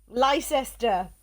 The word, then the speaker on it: Leicester: Imagine my reaction when I heard that Leicester is not pronounced yes. Leicester.